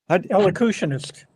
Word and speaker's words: elocutionist: met Marshall, and she was, I can't even pronounce this word, a locutus. What is she? ELOCU. Elocutionist.